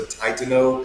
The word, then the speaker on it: Titano: Whenever we met with, quick shout out with Melissa Titano is how you actually say her name, and Tony Meek last